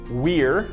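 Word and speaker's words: vir: For example, we saw the words wir, V-I-R.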